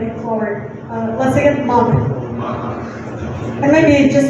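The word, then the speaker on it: мак: Once again, mug.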